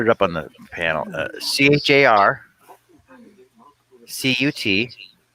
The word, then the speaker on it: charcuterie: CHARCUTERIE. So why isn't it charcuterie? Because it's French.